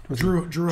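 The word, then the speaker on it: Jrue: Drew Holiday.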